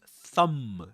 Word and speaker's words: thumb: But not in the word thumb. Thumb. The initial sound there is different. That's thumb. You'll notice that there's no vibration in the vocal folds when you produce um the initial sound in thumb.